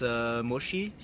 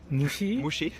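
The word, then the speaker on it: もち: Tempura, and I eat mochi. It's very good. Mushi?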